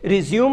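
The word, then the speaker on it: résumé: तो रिज्यूम जो वर्ड इस्तेमाल करते हैं, रिज्यूम और रिज्यूमे दो शब्द हैं। मैंने अक्सर स्टूडेंट्स को कहते सुना, मैंने रिज्यूम भिजवा दिया। That is नॉट रिज्यूम, that is रिज्यूमे। Spelling is the same.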